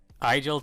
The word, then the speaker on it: Agile: a new partnership with agile technologies which should be pronounced eagle I know that that's